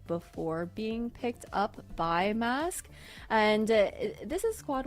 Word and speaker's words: MVSK: I I I'm gonna call the mask going forward. I know it's spelled MBSK, but I think that we can all determine based on the logo that it is mask.